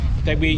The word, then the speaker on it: Tegbi: Tegbi, you spell it T-E-G-B-I.